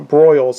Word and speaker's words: Broyles: Broyles, I believe that's how it's pronounced. B-R-O-Y-L-E-S.